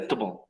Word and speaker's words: comfortable: Ahí tiene 3 sílabas. De hecho, también puede tener 4 porque tiene como 2 pronunciaciones distintas. Yeah. Comfortable. Yeah. Comfortable. Ahí sí, también. Pero la pronunciación más común es comfortable.